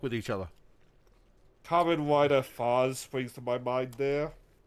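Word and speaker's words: Faiz: Or is that you say Faz? Faz. Yeah. F-A-I-Z. Oh, Fize. Oh. Okay. It's pronounced Faz. I always pronounce it as Faz.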